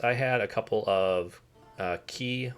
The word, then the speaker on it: Qi: It seems kind of weird, but in my case, I had a couple of Key wireless charging pads. I think that's how you pronounce it, QI.